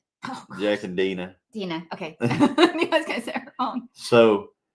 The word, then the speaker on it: Deanna: Jack and Deanna like it's Dina. Oh, Jack and Dina.